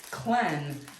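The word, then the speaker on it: Lleyn: to the region and that's called Clen it's cleanse but it's spelled l-l-e-y-n and she already has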